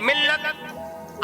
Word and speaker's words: مِلّت: Guys, जब भी हम मिल्लत को लिखते हैं तो लिखने में लाम एक बार आएगा और उसके ऊपर तशदीद की एराब लगाई जाएगी। लेकिन जब भी हम मिल्लत की हिज्जे करेंगे तो लाम को 2 बार पढ़ा जाएगा।